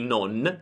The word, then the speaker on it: non: Allora la N finale di non diventa M. Non bevo molto.